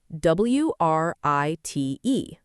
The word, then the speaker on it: write: Think about the word write, w r i t e, but we say write without any w sound.